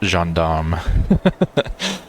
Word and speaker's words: gendarme: Yeah, I'm glad I didn't try and say that, because it's pronounced gendarme. It was the gendarme commander who set up the barrier, carrying in his heart a desire to return to the warmth of his home.